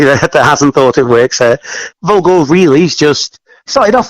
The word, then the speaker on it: Volgor: Volgor. It's a silly name, really. Vulgar and gore just squashed together because we really couldn't think of anything.